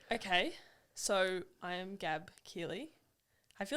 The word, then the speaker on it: Keighley: pronouncing my last time I don't think many people know how to pronounce my last name so maybe that's a good place to start Keeley it's like wheelie but with a k um I I am